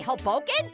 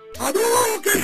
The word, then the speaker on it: Hadouken: Did you just say Hoboken? No. Hadouken. Like Hoboken, New Jersey?